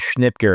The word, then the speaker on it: Schnitger: My last name is Schnipker and my wife almost didn't marry me because of it.